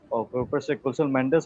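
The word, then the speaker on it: Kusal Mendis: to get to build pressure on Sri Lanka Kel Mendes also played very well that's how you pronounce his name so he also played well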